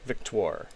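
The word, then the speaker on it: Victoire: Victor. It's a weird one. It's like Victor, but with an OIR on the end. Well, they're French.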